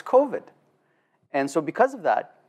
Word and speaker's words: COVID: respectfully to the premier he still mispronounces the name kovid he calls it kovit and the issue there is that no one actually dares to correct him and say hey boss it's coveted and so because of